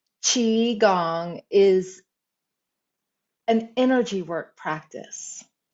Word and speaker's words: qigong: limiting beliefs and so qigong is pronounced chi gong is an energy work